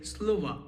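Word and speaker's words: слово: As you can see in writing it ends with O but in pronunciation we say Slova but still because in writing it ends with O.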